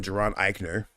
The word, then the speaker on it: Jaron Ikner: And then, in case you want to know who I am, I'm Geron Iikner.